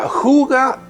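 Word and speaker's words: hygge: vivido en el programa de hoy se pronuncia fuga y a menudo se le traduce como lo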